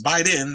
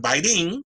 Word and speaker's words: Biden: __ ] last name it's Biden not biding but they had all